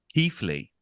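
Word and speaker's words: Keighley: they are common names so it's not Kylie it's actually Keithley oh why why is there a th in there Keith Keithley okay what's going on with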